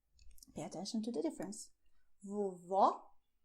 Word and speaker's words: vovó: Pay attention to the difference: "VOVÓ" "VOVÔ".